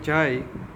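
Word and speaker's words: ξ: यह सिंबल है जाई। उसका प्रोनाउंस होता है जाई।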